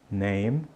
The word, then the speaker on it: name: ó my name is esse e no finalzinho não é pronunciado então diga My name is Ok então você